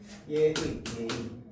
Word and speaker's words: 예의: 얘는 무조건 예로만 발음해야 됩니다. 그런데 뒤에 의는요, 이렇게 발음해도 되고 이렇게 발음해도 됩니다. 예의. 그런데 앞에 얘는 반드시 예로만 발음해야 돼.